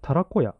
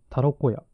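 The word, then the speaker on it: たらこ小屋: たらこ小屋あたらこたらこやさんですねたらこやあのひらがなでたら子って書いて漢字でこやって書いてたらこやって読むみたいですハ物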